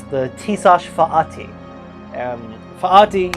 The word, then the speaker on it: Fatih: Fatih, you pronounce like the word faith isn't pronounced like the word faith, if that makes any sense.